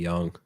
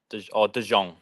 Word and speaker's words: De Jonge: So _de_ Young. Do you pronounce it Young? Yeah. Yeah. De Jong. Yeah. You hit the J. Yeah. You can do whatever you like. I've heard both. They're both correct.